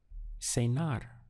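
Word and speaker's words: cenar: have dinner or to dine is sayar just two syllables say nar sayar means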